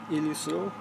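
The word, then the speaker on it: Ileso: And like the graphics are vibrant, especially when you're searching through the sands of like Santo Islao. That's how you pronounce it, Ilislo.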